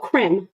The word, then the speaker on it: creme: Okay, so if you're wondering, right now I'm wearing the Revlon Cream. Oh, creme, that's how they pronounce it.